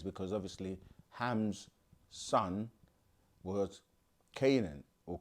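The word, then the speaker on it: Canaan: also medically referred to as Hansen's Disease which phonetically ties into Ham's son's disease because obviously Ham's son was Canan or Canon as some people say so woat is for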